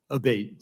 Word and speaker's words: Abate: saying your name properly we've heard it pronounced three different ways today in the hearing aate Senator aate okay thank you um